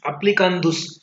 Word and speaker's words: applicandus: एप्लीकेंडुस, actually the pronunciation of this is एप्लीकेंडुस.